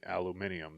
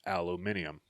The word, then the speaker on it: aluminium: but it is actually aluminium the way it's spelled with the I after the M it's aluminium but no it's aluminum